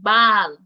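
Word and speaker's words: baal: the first one ah a long a song as in Bal Bal so b a a l instead of the short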